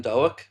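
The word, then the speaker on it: Doak: But it's not dope.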